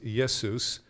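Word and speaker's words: Ἰησοῦς: and the Greek is yes Seuss so it's it's the attempt to mimic as close as possible to Hebrew pronunciation but the issue is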